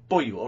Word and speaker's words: Beaulieu: Boyu, okay.